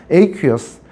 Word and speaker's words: aqueous: 아쿠아라는 발음하지 않습니다. aqueous.